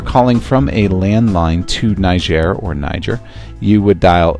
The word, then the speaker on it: Niger: Some people say Niger, some people say Niger. I think the correct way to say it is Niger, but if you want to say Niger, you can.